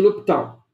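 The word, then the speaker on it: L'Hôpital: Regra de L'Hopital. Ou alguns acabam escrevendo assim L'Hopital, mas a pronúncia seria a mesma porque o S aqui no francês não se pronuncia.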